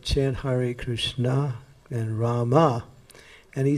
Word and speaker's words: Rama: what is this ramo it's not ramo it's rama because in bengal if you're bengal we'll let you do it because bengal you know bengalis always change the a to o they do that with